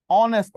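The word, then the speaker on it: honest: তার এর পূর্বেও এন বসে যেমন বসেন এন অনেস্ট ম্যান এই যে অনেস্ট ম্যান এইচ এর উচ্চারণ কি এইচ হয়েছে হনেস্ট হয়েছে আচ্ছা এইচ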